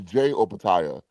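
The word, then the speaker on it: Jai Opetaia: So, my question to you is and apparently his name is Jay Opataya and we've been saying it wrong this whole time.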